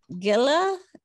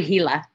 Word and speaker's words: Gila: chicory American Indian Cuisine Gilla dinner River Community in community Indian Wild Horse Pass Candler Gia River Community is that what you said no it's actually Gila the g is silent oh my gosh it's